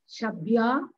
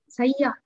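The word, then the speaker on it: शय्या: Shabya. Shabya. Not Shabya. Not Shabya. Read properly that one. Shaya.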